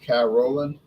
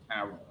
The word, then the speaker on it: Carolan: Oh, you say it's pronounced Carolan? Okay. Carolan.